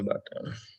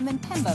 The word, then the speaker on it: Mpemba: Mpemba. මේක මෙම්බා කියලාද කියන්නේ? Mpemba තමයි නේද? P කියන එක pronounce වෙන්නේ නැහැ නේද?